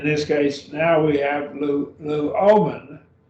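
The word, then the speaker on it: λύομεν: In this case, now we have luomen. So this has three syllables. And I'll move my mouse around. We have lu, that's your first syllable, o, and then men, luomen.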